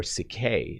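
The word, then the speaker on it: ψυχή: the word butterfly actually in greek uh it is psyche or cicay is how it's pronounced but psyche is literally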